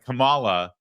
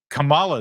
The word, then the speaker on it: Kamala: News I assure you yeah there was a Kamala apparently mispronouncing her own name and that's racist it's